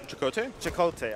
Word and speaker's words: ElChakotay: I said, yo, how do you pronounce your name? I forgot. ElChakotay, okay, yeah.